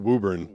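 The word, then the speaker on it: Woburn: It's pronounced Wuburn.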